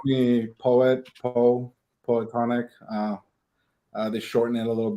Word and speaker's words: Poetonic: Yeah, so it's like you said, it's Poetonic, Okay. Poetonic.